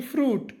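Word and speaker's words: fruit: ಇಲ್ಲಿ ಸ್ವೀಟ್ ಎನ್ನಬಾರದು ಅದೇ ತರ ಎಫ್ ಆರ್ ಯುಐಟಿ ಫ್ರೂಟ್ ನಿಮಗೆ ನನ್ನ ಟೀಚಿಂಗ್ ಮತ್ತು ರಿಸರ್ಚ್ ಇಷ್ಟವಾದಲ್ಲಿ ನನ್ನ ಪೇಜ್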